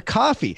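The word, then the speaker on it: Ko-fi: can also be for coffee now coffee is the proper way to pronounce cofee and it's another way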